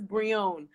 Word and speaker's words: Brillon: college show last night the guy said my last name completely wrong name is Bree own and it's probably not